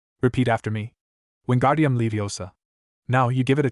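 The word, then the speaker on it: Wingardium Leviosa: Wingardium Leiosa. Now you give it a try. Wgardium Leiosar Ran said, but Hermione heard the misprononunciation and corrected him. There is no second R in the first part.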